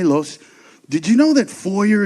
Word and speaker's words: foyer: Los, did you know that foyer is actually a French word? It's supposed to be pronounced foyer.